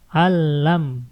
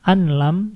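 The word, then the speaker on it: أَلَّمْ: Allam, bukan anlam, tapi allam. Langsung saja masuk, nun sukun tidak diucapkan, langsung saja masuk ke la.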